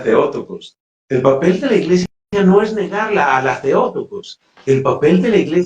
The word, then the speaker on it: Theotokos: El papel de la iglesia no es negar el concilio de Éfeso ni es negar que María es Theotokos, que propiamente en griego se pronunciaría Theotokos.